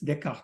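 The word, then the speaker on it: Descartes: deart d s c a r t s deart is how it's pronounced he is the first one who introduced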